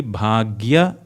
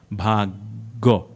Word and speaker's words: भाग्य: So it would be bhagya vidhata, but then again it's not gya but bhagyo. So like Padma becomes Paddo.